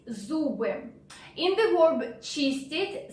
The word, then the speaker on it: зубы: So sound z is a bit difficult here. Z, z, like zoo in English.